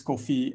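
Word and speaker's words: Koffi: to our presentation tonight my name is kofi i spell it ffi um but you know most people say like the coffee you drink which is okay and if you do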